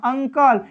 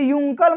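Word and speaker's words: uncle: इसे क्या पढ़ते हैं अन से पढ़ते हैं अंकल इसे yunkal मत कर दीजिएगा ओके अंदर जैसे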